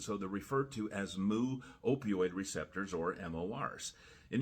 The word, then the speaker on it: mu: I know that's not really an intuitive symbol. It's actually pronounced moo receptors.